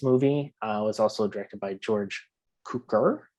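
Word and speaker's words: George Cukor: was also directed by george cooker i believe is how you pronounce the name but ironically too and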